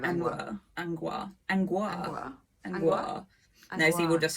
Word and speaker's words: Angua: I've never really figured out how to pronounce Angua, and I was really dreading it when we get to her turning up in the book, so I might go with Angua.